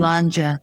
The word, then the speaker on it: Sláinte: orange wine Sláinte. Tell me how do you say that again? Sláinte.